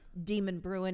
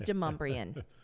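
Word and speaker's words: Demonbreun: Demon Bruin is not one of them. It is Demumbrian.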